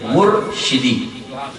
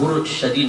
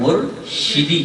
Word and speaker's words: مرشدی: کے ساتھ نعرہ لگائیں، شین کے نیچے زیر، مرشدی. اگر آپ کسی کو اس طرح نعرہ لگاتے دیکھیں کہ وہ غلط تلفظ کے ساتھ نعرہ لگا رہے ہیں تو پیار اور محبت سے اس کو سمجھائیں کہ آپ مرشدی نہ کہیں، مرشدی کہیں، مرشدی. ٹھیک ہے؟